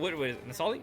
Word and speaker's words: Nali: she is it n is it Nali or nalia what Nali did I say it right You' said it right it's Nali I got you I got